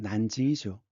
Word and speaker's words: 난징: 그랬는데 남경, 중국 발음으로는 난징이죠.